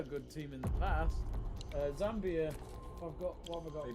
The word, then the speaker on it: Zambia: I've caught Davies disease where you can't pronounce things. Yeah. Nambia. Burgoyne. Diati. And he's got Zamibia. I nearly fucking said it as well. Zambia.